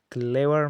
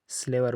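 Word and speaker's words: clever: کلیور معنا هوښیار، هوښیار. په دې کې هم سی په کاف تلفظ کېږي. کلیور. سلیور به نه وایي، کلیور هوښیار.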